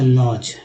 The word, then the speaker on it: lodge: जैसे कि आपने यहाँ देखा था लॉज, है ना, LODGE, यही देखा था हमने, यहाँ के जी नहीं था वहाँ पर, तो यहाँ डी जो है साइलेंट है।